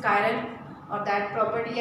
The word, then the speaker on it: chiral: syllabus में आया है, चिराल या कायरल, फिर भी प्रोनाउंस करिए आप चिराल के CHIRAL, but correct pronunciation is कायरल, और दैट प्रॉपर्टी या